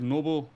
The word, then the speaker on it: Nobbel: But the Dutch way is Nobbel, but a lot of people say Nobbel, Noble. Oh, it is Noble. Nobbel, pretty much like the oh.